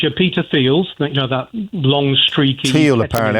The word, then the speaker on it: Thiel: So it's your Curtis Yarvins, it's your Peter Thiels, that long streaky... Thiel, apparently. I mispronounced that.